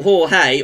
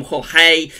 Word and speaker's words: Jorge: why we are at storm Jorge or storm Jorge depending on how you want to pronounce it which begins with